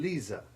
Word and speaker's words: Lisa: and Lisa, in which the Z becomes hard S1 and the I usually changes to long I3 so that it rhymes with Pisa.